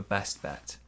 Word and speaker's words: best bet: It's your best bet. Pronunciation here, it's your best bet. It's your best bet. We stress best.